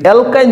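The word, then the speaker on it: alkyne: উচ্চারণ করব অ্যালকিন ইন যদি অ্যালকাইন হয় তাইলে আমরা আইন উচ্চারণ করব কি আইন এই তিনটা জিনিস আমাদের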